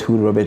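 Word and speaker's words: Hud: I'm like, yeah, my hood be this. You get it? So they are like, oh, okay. So Hood. So that is how the hood came about. And the hood is spelled H-U-D.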